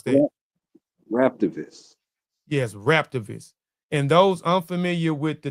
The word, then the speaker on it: Raptivist: How you pronounce that? Rap, Raptivist. Yes, Raptivist.